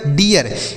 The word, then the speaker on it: dear: साथ आर भी है, तो इसका उच्चारण बड़ी की मात्रा लिखेंगे और यह लिखेंगे, उसके बाद आर से र, तो यह डियर लिखा गया है। क्या लिखा गया सर? डियर। इसे आपको डीर नहीं पढ़ना है, डियर पढ़ना है।